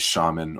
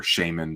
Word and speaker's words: Shaman: his character's name is shaman or shaymin depending how you want to pronounce i think as a kid i always said shaymin but i've probably softened on that over the years we've got corporal ann